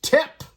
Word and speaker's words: Tep: A guy named Tep, which rhymes with Hep, which rhymes with kind of Hep C, which reminds me of my first wife.